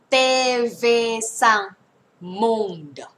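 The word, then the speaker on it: TV5Monde: เ ล ย แ ล้ ว กั น TV sang monde TV sang monde เ ต เ ว ซั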